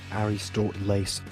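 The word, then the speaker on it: Ἀριστοτέλης: three consecutive periods aristotle aristotle's pronounced harry stort lace 384-322 bc was an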